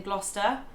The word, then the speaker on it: Gloucester: Yeah, so it's the CES sound within Gloucester. It's just, you skip over it.